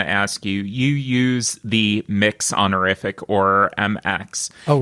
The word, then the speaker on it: Mx.: I pronounce it mix. I've heard it pronounced mux before, but MX period, I pronounce mix.